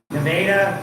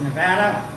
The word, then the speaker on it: Nevada: Instead of Nevada, it's Nevada.